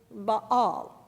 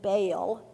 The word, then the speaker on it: Baal: word about that name the proper pronunciation in Hebrew as I learned from my old testament professor in seminary is Bal but almost everyone pronounces it baale so it shall be